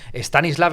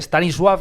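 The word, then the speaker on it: Stanisław: por haberlo hecho así todos hemos estado pronunciando stanislav en vez de stanis swav y cosas así Total que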